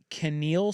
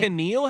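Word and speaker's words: Kaneal: BYU already has Canal Sweet Wine. What? I am not kidding. Oh, hell yeah. Happiness. That's his name. Canal.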